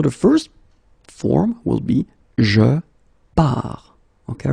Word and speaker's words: pars: So the first form will be je pars, okay? Remember, you put this S, you don't pronounce it. Je pars.